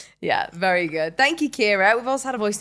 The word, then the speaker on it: Kira: So, my name's Kira, but it's spelled K I R A. And it's always Kyra. You're ready to be seen. It's not my name. It's Kira.